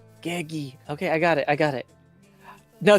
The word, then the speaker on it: Gegi: It's Gegi. Gegi.